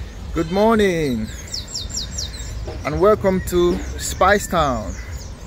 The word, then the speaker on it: Speightstown: good morning and welcome to spice town it's not spice but spice it's spelled and pronounced a spice town for the